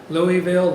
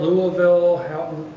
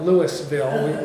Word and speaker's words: Louisville: Depending on how you said his name is how you say our name. Louisville, Louisville. You don't say, we don't call it Louisville. Some do, though. Some do. And we know that they're not from Louisville, right? Those that don't pronounce it properly.